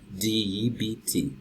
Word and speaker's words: debt: you you know and every time I have be in a pea and they are followed by its EE its silence example that word you have de bt bt so the beans on toast debt debt the next one received